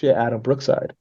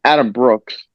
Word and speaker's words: Adam Brooks: holy Adam Brookside no it's Adam Brooks Brooks not I'm saying it wrong my bad get off